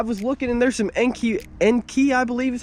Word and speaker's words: Enkei: And like I just said, I was looking, and there's some Enkei, I believe is how it's pronounced, E-N-K-E-I, and they have some wheels that weigh about 42 pounds up front and 42.5 pounds in back.